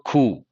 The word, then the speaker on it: coup: may go in for coup. COUP. P is silent.